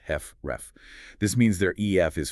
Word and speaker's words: HFrEF: Approximately half of all HF patients have what's called heart failure with reduced ejection fraction or HFREF, pronounced heffref.